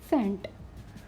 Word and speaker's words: scent: words C end where C is Silent not scanned this is scent science you know subject